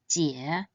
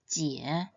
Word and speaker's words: jiě: It should be read in the third tone, jie, jie.